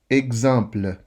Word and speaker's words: exemple: Exemple, exemple, exemple. Notice that in English, it is spelled EXAMPLE, but in French, it is EXE instead of A, MPLE.